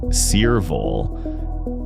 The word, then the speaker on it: Cearvol: These are the Cearvol Wave Hearing Aids, pronounced Cearvol.